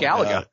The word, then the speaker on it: Galaga: My wife's all-time favorite video game is, and I'm never sure if I pronounce this right, is it Galaga or Galaga? Galaga.